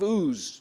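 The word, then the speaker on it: Uz: And the text introduces Job as being from the land of ooze. U it's spelled.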